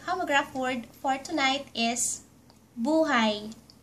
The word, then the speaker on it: buhay: Our last Tagalog homograph word for tonight is buhay. Buuu-hay (Buhay) Buhay means life. And if you pronounced the word buhay ---- buhay means alive. Buhay (Buuu-hay) and buhay.